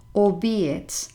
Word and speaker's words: albeit: and it is pronounced albeit or be it the stress falls on the middle syllable and you pronounce it